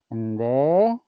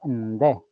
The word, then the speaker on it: Ndé: Pueden decir Ndé, con una E muy larga, Nné, o como en mi variante que digo Ndé.